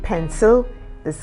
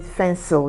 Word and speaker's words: pencil: hear them say um they want to say pencil they call it fencil you know yeah so